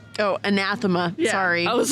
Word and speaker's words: Anathema: Amarantha? Yep. That's how you say her name? Oh, anathema.